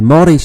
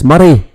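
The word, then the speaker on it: Moray: Elgen Shire right but it's not it's a morish shire or Mish Shire we call it uh most people say Mori cuz they think it's pronounced Mori but it's muray right so yeah this is Elgen there's actually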